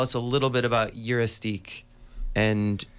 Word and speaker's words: Juristac: Eurystique, that's a pronunciation.